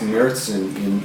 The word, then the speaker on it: Märzen: M-A-R-Z-E-N is pronounced Märzen in Offdeutsch in German.